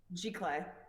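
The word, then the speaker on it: giclée: G Clay? What? G Clay prints? Or It might be G Clay. I always pronounce it Gisli. It's Giclee, I think. G Clay.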